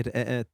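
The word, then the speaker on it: رقاق: Comment ça se prononce alors En fait, donc c'est de l'arabe, ça se dit ra'at.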